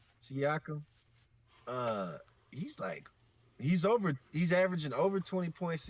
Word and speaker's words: Siakam: D Terrell, but ain't Siki, how do you pronounce this dude's name? Siakam. Siakam.